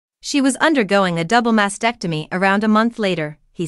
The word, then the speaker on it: mastectomy: I also discovered that the correct pronunciation is mastectomy not masectomy it contains a t it shouldn't masectomy should